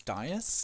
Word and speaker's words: Diaz: I'm Diaz, or the way you pronounce it properly is Diaz. Keep that in mind. It's an S, not a Z.